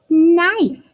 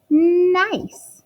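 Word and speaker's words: gneiss: is an example of nice that's how it's pronounced nice right here the G is silent nice so this is also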